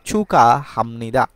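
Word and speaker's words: 축하합니다: পরে যদি হিয়ত থাকে গিয়ক বাচ্চিমের পরে যদি হিয়ত থাকে তাহলে এই গিয়ক আর হিয়ত মিলে দুইটা হয়ে যাবে খ এর মত উচ্চারণ হয় তাহলে চুকা হামনিদা অর্থাৎ অভিনন্দন এখানে আরেকটা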